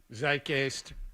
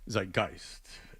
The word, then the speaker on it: Zeitgeist: It's become part of the zeicist. Zeitgeist. Correct. Correct, Jonathan. Zekeist. Oh, that was a very German pronunciation.